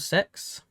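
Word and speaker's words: CeX: It's called Sex. Yeah. Yeah. Yeah. But it's spelled C X. It's cool. It's pronounced sex, but it's CE X.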